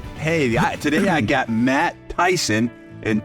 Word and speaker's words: Theisen: today I got Matt Tyson and Tyson is spelled t h e i s n it is all right it's not ty not not Mike Tyson no but Matt Tyson spelled completely different and Matt